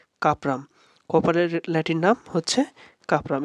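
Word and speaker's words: Cuprum: আম এখানে আমাদের উচ্চারণ হচ্ছে।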